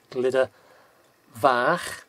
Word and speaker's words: Glyder Fach: get that ah that roll out so it's glitter vah and glitter vowel vowel which is f-a-w-r but